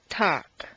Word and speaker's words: talk: Once you've found all the L sounds, the good news is that very often you don't even have to pronounce them. Read the following list of words after me. 1. Would, could, should. 2. Chalk, talk, walk.